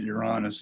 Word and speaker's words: Uranus: Uranus, I pronounce it Uranus.